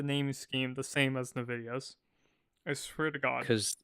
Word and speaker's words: NVIDIA: Do you call it NVIDIA or NVIDIA? NVIDIA. NVIDIA. I've heard it's supposed to be pronounced NVIDIA, but I pronounce it NVIDIA because American.